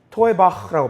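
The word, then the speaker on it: תועבה: 히브리어로 이렇게 발음해요. 이거 중요한데 뭐라고 바하면 이렇게 바라 토에바흐라고 발음하거든요.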